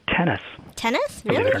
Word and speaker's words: Thoennes: And it's actually pronounced tennis.